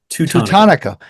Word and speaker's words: Teutonico: Teutonico.